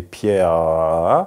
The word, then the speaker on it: Pierre: Et Pietro sont les deux versions du même prénom, à la différence qu'en français, c'est le E muet final qui est accentué. Si j'exagérais, ça serait Pierre.